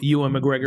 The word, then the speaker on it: Ewan McGregor: Ewan McGregor.